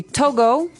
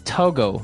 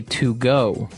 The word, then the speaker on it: Togo: Okay, so it's Togo. That's the way you pronounce it. Because if you look at it, I would say to go. Right, but it's not to go, it's Togo.